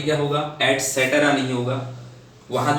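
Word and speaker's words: et cetera: ETC means होता है एटसेट्रा, इसको मैक्सिमम जो लोग हैं जब भी इसका प्रोनाउंसिएशन करते हैं तो एटसेट्रा बोलते हैं, बट दैट इज रॉन्ग।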